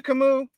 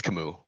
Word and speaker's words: Camus: Is he shout out to Kimu, Camus? All right. No, it's Kamu. Yeah. You know, when I mispronounce look, I I need to explain.